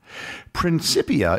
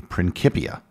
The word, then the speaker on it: principia: like the letter k principia is an anglicized version It's commonly pronounced that way as most people don't know Latin but it isn't how Newton would have pronounced it if you watch any videos with science historians I would bet that their preferred pronunciation would be principia that being said there